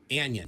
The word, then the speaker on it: anion: also pronounced the word anion as anion like onion which is a negatively